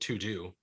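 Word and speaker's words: Teux Deux: shout out apps yeah there's an app called to do but it's spelled all french it's like t-e-u-x-d-e-u-x that's easy to find for people yeah and yeah to do but it's really good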